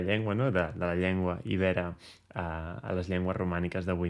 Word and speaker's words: iber: Aviam, tècnicament, en català s'escriu iber, sense accent, i, per tant, són els ibers.